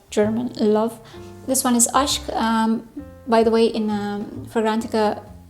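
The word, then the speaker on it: Aşk: This one is Ashk. By the way, in Fragrantica, it says Ask. It's not Ask, it's Ashk. It's pronounced as Ashk.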